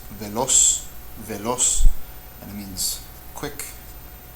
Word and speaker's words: veloz: This is pronounced veloz, veloz, and it means quick, related to the word velocity in English. Veloz, so the accented syllable is the last one, which means aguda.